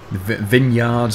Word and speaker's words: vineyard: and the mines and vineyards and all that sort of stuff. Oh yes, by the way, whenever I say vineyard, that is how we pronounce it in the UK.